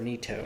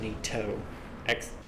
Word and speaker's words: Nito: Make your way to the top, and we're about to fight Gravelord Nito. I'm gonna call him Nito, putting an accent on the T instead of Nito, like Nito.